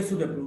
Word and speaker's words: sow: SO or ACW or SOW. So. Is even this spelling SEW, it is pronounced as so. But if you pronounce it sow, it's a female pig.